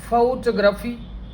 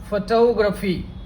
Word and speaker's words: photography: इसका उच्चारण छात्रों फोटोग्राफी अथवा फोटोग्राफी।